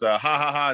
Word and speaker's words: Jajaja: It's ha ha ha in Spanish, JAJAJA, because we're gringos.